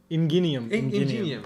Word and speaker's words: Ingenium: Ingenium. Ingenium, yeah. There we go. Just call Ingenium. him It's with a soft G. Gi.